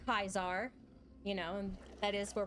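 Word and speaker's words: Caesar: I know all way actual pronunciation of Latin versus uh the bastardized version that we have now and we do say kaizar you know that is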